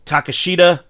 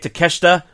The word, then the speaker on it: Takeshita: take on kayusuke to takashita takesh excuse me I keep saying his name wrong kanosuke takeshita and bullet Club gold juice